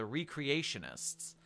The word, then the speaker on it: recreationists: foundation morale reached pre-scp-700-1 levels body disposal requirements of the uninfected increased some foundation personnel defected to the recreationists footnote pronounced re-creationists full group of interest